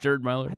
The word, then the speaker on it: Gerd Müller: Gerd Müller Gerd Gerd Müller call him Gerard.